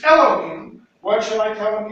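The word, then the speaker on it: אֱלֹהִים: So, it would have, the word that Moses would have spoken would have been Elohim. Or some people pronounce it Elohim. Okay? That's whatever. That's a difference in pronunciation.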